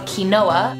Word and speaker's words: quinoa: Now, mind you, it looks like it's spelled quinoa.